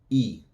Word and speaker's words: y: E. So the Y is going to sound like a long E in English. E.